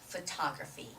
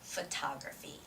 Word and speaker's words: photography: okay it's flash photography although it starts with a p h is an f pronunciation okay so it has